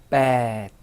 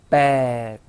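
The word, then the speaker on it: แปด: 8은요. bad, bad 하고 일성으로 발음하시고 자, 이어서 숫자 9는요.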